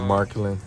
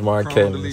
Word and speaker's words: Mark Cannon: His name is not Mark or Marklin. His name is Mark Cannon.